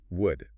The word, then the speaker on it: would: Would it has a silent L.